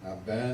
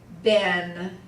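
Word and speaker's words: בן: Now this is the one we pronounce the Sephardic way. Normally in the States, the Tzere says A, but Ben is so common, like Ben and Shem and Ham. We pronounce these the Sephardic way. In Israel, they have a short E sound.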